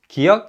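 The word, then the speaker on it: 기역: Kiok is similar to the hard g sound in give and gap.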